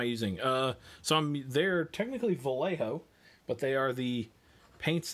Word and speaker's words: Vallejo: paint is identical and they are vallejo or some people say vallejo i've heard that i'm american i just pronounced the letters in order ignorance is bliss all